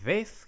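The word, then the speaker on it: ב: Beth is simply b, and then you have the veth here is pronounced as v.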